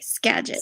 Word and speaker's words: Skagit: it in my head I don't want to say it wrong Skagit County woman family and friends right okay Skagit Skagit County woman family and friends Skagit County woman thank you okay we got it yeah it's Gadget County